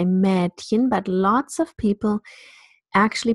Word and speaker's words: Mädchen: This sound actually is very similar to the sound that occurs in English, British English, red. It's a half open front vowel, red, red, Mädchen.